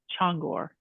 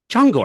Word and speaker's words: Csongor: it oh okay so the Cs in Hungarian is pronounced so it's changor changor ch I'm sorry I totally